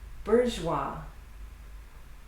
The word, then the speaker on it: bourgeois: Bourgeois. Bourgeois. Another French one. And that's it for the letter S, the silent letter S.